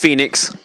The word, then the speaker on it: Phoenix: i've had fedex huh i said fenix i was like that's not right i bet so it's been such a long day but no it is pronounced phoenix no i know it is